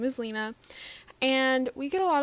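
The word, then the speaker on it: Lina: Her name is Lena, spelled L-I-N-A, and the reason I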